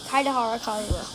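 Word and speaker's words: Kaedehara Kazuha: Okay, Kaidehara Kazuha.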